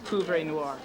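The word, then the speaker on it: poivre noir: It's pouvre noir.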